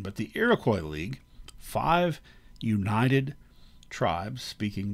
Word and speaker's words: Iroquois: europeans the iroquois league technically uh the french pronunciation would be iroquois um their name for themselves is sony so i go with the americanized pronunciation but the iroquois league five united tribes